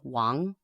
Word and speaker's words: Wang: most common last names and it's Wang that's the Chinese pronunciation which is anglicized in